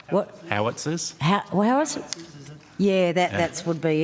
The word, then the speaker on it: howitzer: What impact did the 6, how do you pronounce that word? Is it hoisters? Housters? Sorry. That's right. What? Howitzers?